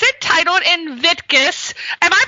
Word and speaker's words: Invictus: for you very much and and it's entitled Invictus am I pronouncing that right inviticus Invictus which means as you said it unconquerable and